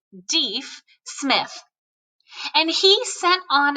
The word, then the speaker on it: Deaf: One of Houston's scouts is an incredible man named Erastus, or Deaf, although he pronounced it Deef, Smith.